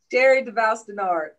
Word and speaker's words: Sherry DeVouse Dennard: Did I pronounce that correct, Sherry? Oh, that's pretty close. That's pretty close. Go ahead and correct me. How did I? Sherry DeVouse Dennard. Sherry DeVouse Dennard. Yeah.